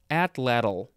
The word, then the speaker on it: atlatl: we say it again it's called an atlatl at or is it just atlatl at at little geez at little can you help me out i'm gonna look it up this is from the nahuatl word uh a-h-t-l-a-t-l uh i think i don't know if that's american indian uh nahuatl i think it might be american indian let me try that word again at atlatl atlatl sure add a ladle next we have atlee